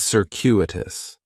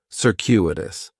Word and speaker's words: circuitous: I really like is circuitous Cirus has four syllables and there's a few things